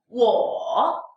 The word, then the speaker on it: 我: 我 If you really want to emphasize one character, third tone character, then you should pronounce it fully. 我 But if you put the third tone word into the sentence or into a phrase and you say it very fast, then you can just shorten it out.